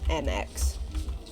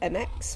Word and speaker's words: Mx: Pronounced to sound like mix or mux, the title MX, which like other honorifics